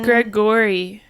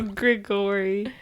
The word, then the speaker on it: Gregori: And it's Gregori. Gregori. No, Gregori.